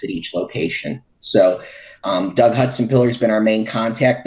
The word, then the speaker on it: Hutsenpiller: Doug, what's the correct pronunciation? Hutsenpiller. Hutsenpiller.